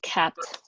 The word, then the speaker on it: kpt: of a open source tool called capped it's spelled like kpt and i'll let phil